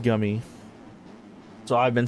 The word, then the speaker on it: Gumey: I kept saying Gumey. It's pronounced Gummy.